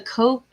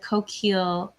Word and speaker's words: Coquille: Does anybody know how the name of this town is pronounced? It's the Coquille, which in French would be like coquille, but I assume it's like anglicized and maybe it's like coquille or coquille.